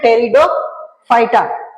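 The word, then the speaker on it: Pteridophyta: T silent है इसमें टेरिडोफाइटा।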